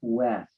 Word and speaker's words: Wust: going to pick Wust to start first because I had Morgan last time. Okay, thank you, Henry. My name is West. West, The U is silent, yes.